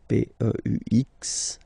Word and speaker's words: peux: P-E-U-X, okay? You don't pronounce the final X.